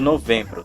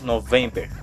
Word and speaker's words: November: já ouvi por aí você não pode adaptar isso para o português falando novembro tem que manter o november e seguindo nós temos